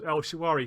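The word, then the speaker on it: El Shaarawy: I can't say his name. It's Shawari. El Shawari.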